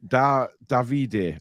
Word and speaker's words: Davide: Italian would indeed be Davide.